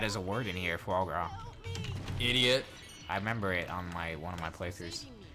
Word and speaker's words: foie gras: Frog gras? Yeah, that's how you say it. Although, how you spell it's a completely different thing. I think they actually have that as a word in here, foie gras.